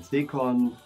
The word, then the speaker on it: Zekorn: My name is in German pronounced Zekorn.